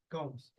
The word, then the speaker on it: Coombs: Combs. Coombs. Combs. Like hair combs.